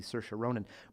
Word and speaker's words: Saoirse Ronan: her a lot it's it's not pronounced how it's spelled right and once you get to hear it enough it's pretty easy Saoirse Ronan but the movies we